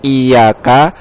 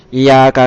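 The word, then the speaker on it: إِيَّاكَ: Ini yang perlu diperhatikan kalau membaca surat Al-Fatihah sampai ayat iyyaka itu tasdidnya ya itu harus diperjelas, ya. Jangan karena terlalu bacanya itu cepat, ya, sehingga tasdidnya hilang kadang-kadang. Iyyaka na'budu wa iyyaka nasta'in, itu salah. Yang benar tasdidnya itu harus diperjelas. Iyyaka na'budu wa iyyaka nasta'in. Karena kalau tasdidnya hilang itu nanti berbahaya artinya, ya, merubah makna.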